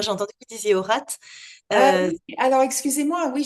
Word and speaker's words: Haurat: là qu'on le prononce avec le T, qui Bon, s'entend. c'est Aurat.